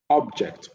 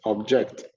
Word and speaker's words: object: If a word is both a verb and a noun, the noun stresses the first syllable, whereas the verb is stressed on the second syllable.